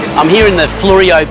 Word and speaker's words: Fleurieu: i'm here in the florio peninsula although some people pronounce it florida peninsula and there's a lot